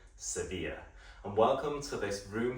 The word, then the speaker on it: Sevilla: Hey, welcome to the Abba Hotel in Seville, or as the locals say, Sevilla.